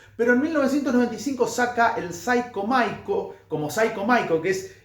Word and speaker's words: Cyco Miko: Creo que en 94 fue el disco, pero en 1995 saca el Psycho Maiko, como Psycho Maiko, que es el apodo, el